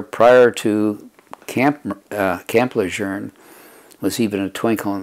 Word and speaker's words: Lejeune: is important that people too many people are mispronouncing the name of this base it's camp lejeune the 13th commandant of the united states name was john archer lejeune so you call the base lejeune because that was his name a lot of